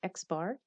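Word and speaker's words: x̄: The sample mean denoted x, and there's a bar on top of it. We pronounce it x bar, is computed using sample data.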